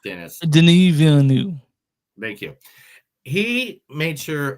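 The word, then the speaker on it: Denis Villeneuve: his name say it correctly I know it's Dennis denu thank you he made sure of a Dy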